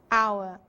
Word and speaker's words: hour: Porque eu falei para vocês, alguns poucos casos o H não tem som de como em hotel, mas é mudo, como em honest ou mesmo hour. Vamos ouvir? The honor, the hours.